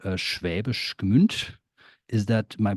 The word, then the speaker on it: Schwäbisch Gmünd: So you were born in eastern Baden-Württemberg in a town called Schwäbisch Gmünd. Is that my pronunciation Yes. close enough? Yeah, Schwäbisch Gmünd.